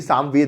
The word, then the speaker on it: सामवेद: ठीक है, तो याद रखिएगा नहीं संविदा नहीं, सामवेद है।